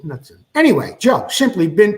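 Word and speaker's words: Knudson: from one of our viewers Paul nudson I pronounce it nudson k n u d s n that I don't think it's kudon I think it's nutson any anyway Joe simply been preoccupied with little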